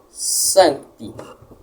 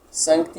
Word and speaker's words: Sancti: Sancti. Sancti possui duas sílabas. Sancti. ti. Automaticamente, a primeira é a mais forte, a tônica, sancti.